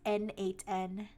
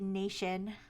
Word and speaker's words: n8n: when I googled it, is pronounced N8N. I've been pronouncing it Nation, like, in my head the entire time I've read anything about it. But I googled it, and in their, like, official media kit or whatever, they say it's to be pronounced N8N.